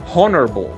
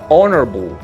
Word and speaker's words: honorable: Se pronuncia honorable. La H es muda o no es muda. No pronunciamos honorable con H, con ese sonido de J o ese sonido de soplido, sino honorable.